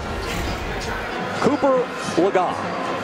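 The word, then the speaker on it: Cooper Legas: Cooper Lagan. That is the correct pronunciation, as we corrected ourselves just a few minutes ago.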